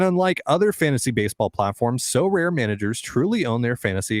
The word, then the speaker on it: Sorare: win a variety of rewards, which can include So Rare scarcity cards, game tickets, merchandise, signed jerseys, and VIP experiences like meeting MLB stars.